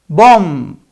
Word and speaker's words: bomb: Okay, I'll pronounce it for you and you tell me the rule, okay? The first one is bomb, bomb, right?